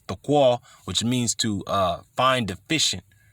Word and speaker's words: tekel: They received the message, a tekel, or tequal. The real way you pronounce it is tequal, which means to find deficient or wanting, which is lacking.